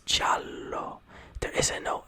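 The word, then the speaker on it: giallo: Chalo this right here is not yellow it's jalo there isn't no h and you're never gonna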